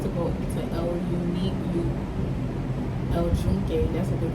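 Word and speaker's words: El Yunque: I wanted to go into El Unique El Jun. That's what they call it here. When you spell it out in English, it's Yuk, but they call it El Jun.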